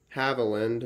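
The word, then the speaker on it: Havilland: the howlin holland band havaland actually that's how it's pronounced and the only special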